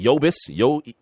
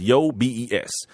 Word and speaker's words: Yobes: Yobis, it's Yobes, and then Ondieki.